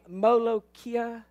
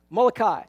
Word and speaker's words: Molokai: is too much fun the hawaii island name molokia how do you say it molokai that's what somebody else